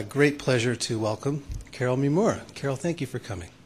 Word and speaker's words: Mimura: And and there's one person in the audience who knows that probably the correct pronunciation of my name is Mima, even though I don't say it that way because I'm fourth generation by now, American.